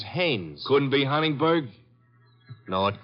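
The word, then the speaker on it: Haines: used to fish out no no no not Hines hannes couldn't be Huntingburg no it couldn't be the name is hannes h a i n Hanes give me your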